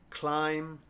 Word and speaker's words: climb: Climb, debt, doubt.